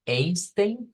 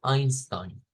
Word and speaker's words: Einstein: en Alemania y que lo pronunciamos no como Einstein sino como Einstein entonces ahí íamos siempre que una e escrita como en Einstein se pronuncia como a Y es de